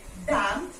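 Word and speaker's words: damn: तो वर्ड्स क्या है हमारे पास ऑटम okay डैम him column and condemn तो ऑटम में हम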